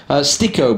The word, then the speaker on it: Styko: Sticko, by the way, is apparently how we pronounce it, not Styko.